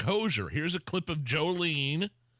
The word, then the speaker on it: Hozier: Yeah, am I saying it right, Allison? Hozier? I think so, actually. Is it Hozier? I think it's Hozier. H-O-Z-I-E-R, Hozier.